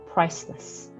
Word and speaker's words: priceless: 자, 아까 설명을 했듯이 price 그 다음에 less 이렇게 슈와 발음 작게 하시는 거. 그 다음에 강세도 여기 앞에 들어간다라고 생각을 하시면 되겠죠. adjective, 형용사입니다. priceless.